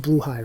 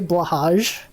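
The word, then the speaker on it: Blåhaj: It's pronounced Bluehai, right? I know. People will say Blahaj. I know it's pronounced Bluehai. The insecurity. Do you guys know that's the proper pronunciation? The proper Swedish pronunciation.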